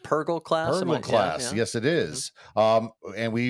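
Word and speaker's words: Purrgil: Is it pronounced Purgle class? Purgle class.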